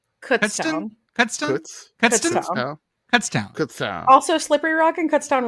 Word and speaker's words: Kutztown: Kutztown? Kutztown.